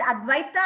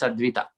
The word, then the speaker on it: Advaita: Am I pronouncing correctly, Advaita? Is it Advaita or Advita? It's Advita. Advita. Advita. Okay, Advita.